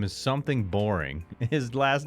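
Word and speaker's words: Boreing: his last name is boring boring so if when you meet him say his first name and you pronounce the last name boring and they were talking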